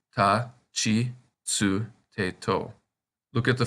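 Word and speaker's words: つ: That's right, this kana is pronounced tsu. The t kana are irregular, with pronunciation ta, chi, tsu, te, to.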